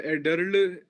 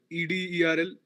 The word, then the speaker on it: Ederle: The lady is pronounced by Ederl, Ederl.